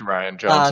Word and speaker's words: Rian: probably gonna go back and forth on the pronunciation it's Ryan brought to the podcast it's spelt like Ryan though huh well it's not spelt like rain it's definitely not rain Johnson I've heard someone say that before I